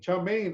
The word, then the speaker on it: chow mein: Chow mein is the Cantonese pronunciation of the Chinese characters above, which means stir-fried noodles.